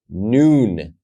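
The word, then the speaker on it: נון: lamid mem and then noon noon is pronounced as the letter na no like Nancy We Carry On forward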